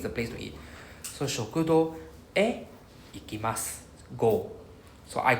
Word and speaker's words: へ: Written like the HE one, but pronounced as just E.